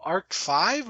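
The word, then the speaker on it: Yu-Gi-Oh! ARC-V: Arc 5, or is it Arc V?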